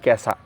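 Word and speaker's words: 今朝: Itu digabung dibacanya menjadi kesa.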